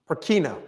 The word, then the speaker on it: Purkinje: So if you look at this, was named after a Dutchman named, Peter, how do you pronounce that name? Purkinje.